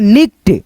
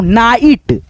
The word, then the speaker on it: night: NIGHT, इसे क्या पढ़ेंगे निक्ट, निक्ट नहीं दोस्तों नाइट, इसे पढ़ेंगे हम लोग नाइट, नाइट।